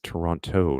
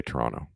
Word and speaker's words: Toronto: is subjective yeah it's Toronto not Toronto well actually we say Toronto not Toronto that's how we know that you're not from Toronto Wilfred because we don't pronounce the T we say or some